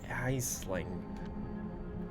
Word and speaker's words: Aisling: How do I pronounce that name? Aisling.